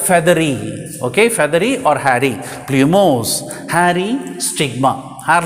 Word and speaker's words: plumose: of a stigma is plumose actually that spelling blue p l u blue but we have to pronounce it as flu plumose now plumose means a